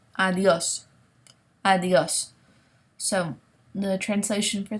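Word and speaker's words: adiós: pronunciation of this word, the D sounds like a TH, okay? So try putting your tongue on your top tooth, kind of over your top tooth to make the TH sound, like the, and you'll get a better pronunciation, okay?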